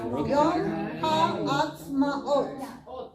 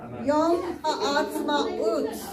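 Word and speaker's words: יום העצמאות: Yom Yom Ha'atzmaot. Remember to Ut. Ut. Oh, sorry, it is Ut. Yom Ha'atzmaut. Sorry, got the wrong one.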